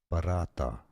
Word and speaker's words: paratha: It says paratha paratha paratha.